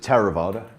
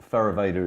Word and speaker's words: Theravada: work came from Martin in in Pali I pronounced it tera vaada ther evader is perfectly acceptable as well and it is